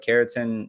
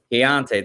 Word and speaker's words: Keontae: feel like I'm going to say his first name wrong, but Keaton Ingram. I'm saying it wrong probably. Keontae, thank you.